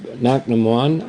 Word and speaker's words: Cnoc na Moine: That's Knock Naman, I think is how it's pronounced.